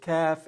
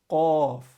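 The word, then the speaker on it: قاف: They'll say ka. They'll make the K sound. They say kaf and kaf. No, this is qa, qaf, qaf, and it's a heavy letter.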